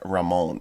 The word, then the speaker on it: Raymond: Go watch Jeff Ramon. It's spelled Raymond. Jeff Raymond, Raymond, Raymond. But it is French. He's a Frenchman.